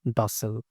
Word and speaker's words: docile: cooperation on every topic notice using the American pronunciation dosel in another usage the